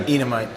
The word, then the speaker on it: Enamait: Am I pronouncing your name correctly? Enamait.